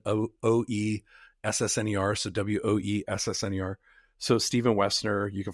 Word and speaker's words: Woessner: So Stephen Woessner on LinkedIn. My last name is good German last name is W-O-E. The O is silent. O-E-S-S-N-E-R. So W-O-E-S-S-N-E-R.